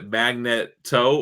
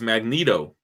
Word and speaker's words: Magneto: debo Oh Eric ton how do you say magneto is a magnet toe or mag needle its magneto like neato dude it's like it's